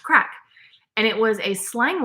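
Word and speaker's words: craic: my grandparents finally we realized she was saying crack c r a i c pronounced crack and it was a slang word for well everything apparently there isn't anything that isn't the crack in Northern Ireland the UK is where I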